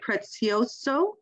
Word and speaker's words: Prezioso: I'll have Kevin share again and have Lieutenant Prezioso. Did I say that properly? As an Italian, as a Paisan, you know, I hope I did. That was very impressive. Yes, that is the correct pronunciation.